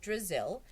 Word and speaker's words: Drizzle: drizzle it was just a little joke rhymes with drizzle I thought it might help you remember my name Terrence laughed